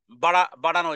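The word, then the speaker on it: ب: এর বিপরীত হলো বা বা হলো দুই ঠোঁট বন্ধ রেখে দুই ঠোঁট বন্ধ রেখে আলিফের বিপরীত আলিফ কে আমরা টানিনি কিন্তু বাকে এবার আমরা টানবো দুই হরকত পরিমাণ অথবা খেট টেনে পড়বো দুই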